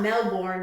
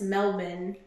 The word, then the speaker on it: Melbourne: Well, just cuz it's like it's not Melbourne, it's Melbourne.